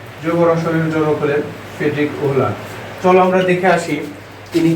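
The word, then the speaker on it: Wöhler: জৈব রসায়নের জনক হচ্ছে ফ্রেডরিক ওহলার। ইনি হলেন জৈব রসায়নের জনক। ইনি হলেন জৈব রসায়নের জনক ফ্রেডরিক ওহলার। অনেকে এই উচ্চারণটা ফ্রেডরিক ভোলার বলে থাকে, ফ্রেডরিক ভোলারও বলা হয়।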